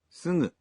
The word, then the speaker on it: すぐ: It's すぐ a voiced nasal. In Japanese, you pronounce g in the initial syllables of words as a voiced g, like がぎぐげご but for other syllables such as すぐ you pronounce the g sound as a nasal.